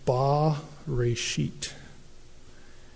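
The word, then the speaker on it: בְּרֵאשִׁית: like a capital T and it would be pronounced ba rashit.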